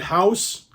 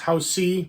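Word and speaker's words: Hausu: and crazy um and I pronounce it house I know there's another I know there's another J Japanese way to maybe pronounce it I don't actually it's Housey maybe Housey um but this is movie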